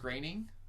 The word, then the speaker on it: Groening: and Futurama creator Matt Groening it's pronounced graining even though his name looks like it's spelled groaning okay yep and I'm